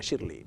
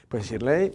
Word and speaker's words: Shirley: Yo me creí que era más americano Shirley, pero es Shirley.